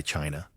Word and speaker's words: Qin: You even named your dynasty after your state Chin pronounced Chin, which may be where the word China comes from.